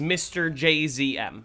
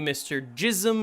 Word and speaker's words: Mr. JZM: Uh, the official pronunciation, the way that I would pronounce it if I were saying it is Mr. JZM. You say you just say the letters, but you can call me Mr.